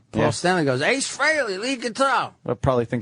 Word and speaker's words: Frehley: A lot of people Everyone pronounce says it Frehley, wrong. but it's Yeah. Frehley. I would have Ace said... Frehley freely admits that Frehley is the proper Oh, pronunciation.